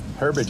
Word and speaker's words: Herbage: Is it Herbage? Yes. Herbage, I pronounced that correctly.